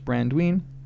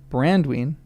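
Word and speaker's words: Baranduin: The Hobbit names of this river were alterations of the Elvish Brandwine, accented on and. Brandwine, derived from Baran, golden brown, and Dwine, large river.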